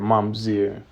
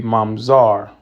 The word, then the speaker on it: mamzer: That's how they say it, mamzer. It would be mamzar.